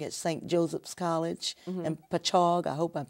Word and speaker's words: Patchogue: Joseph's College in Patchogue. I hope I'm saying it right. Patchogue, it's on Patchogue, Long Island.